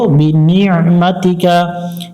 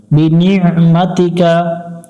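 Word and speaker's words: بنعمتك: কা মাতিকা বিনিমাতিকা এখানে একটু আইনটা গলা চেপে উচ্চারণ করব বিনিমাতিকা এটা অনেকজন যারা বাংলা দিয়ে মুখস্ত করছেন এখানে ভুল হয় বিনিমাতিকা বিনিমাতিকা আবু উলাকাবিকা আইন জবর আ লাম ইয়া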